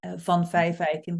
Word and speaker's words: van Vijfeijken: is it's named after my Dutch last name Von Fife eikin which is difficult to pronounce but in Dutch it it literally means